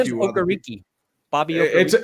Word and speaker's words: Okereke: It's Okereke. It's Okereke. Aw, I've been. I wish it saying was. I wish it was Okereke. I thought it was the same too, and then I hear it's Okereke.